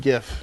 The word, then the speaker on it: GIF: jiff you for that i like that you pronounce it jiff because that's the actual proper pronunciation yeah is it but i've always said gif it should it should